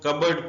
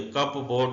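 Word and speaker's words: cupboard: कु होती है बगावत कबड इसको कबड पढ़ेंगे कप बोर्ड नहीं पढ़ेंगे अलमारी नोनिया उर्दू में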